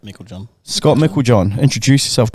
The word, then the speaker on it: Meiklejohn: it yes Scott M Mel John am I pronouncing it right yep Mel John Scott Mel John introduce